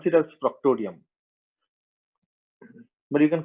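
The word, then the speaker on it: proctodeum: Okay, the spelling is proctadium or proctadium, but we actually pronounce it as proctodium. But you can call it proctadium or proctadium as well.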